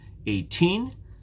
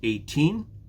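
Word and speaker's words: eighteen: the stress is different we have 18 normally when we speak the stress is on the second syllable 18 and when we have 80 the stress is on the first syllable so when you are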